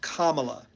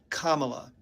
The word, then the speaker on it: Kamala: house she will protect democracy okay and it's pronounced Kamala Kamala and if you have any trouble with that